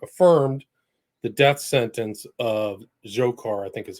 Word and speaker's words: Dzhokhar: the Supreme Court affirmed the death sentence of Dzhokhar, I think is how you pronounce his name, Tsarnaev, the younger brother of Tamerlan.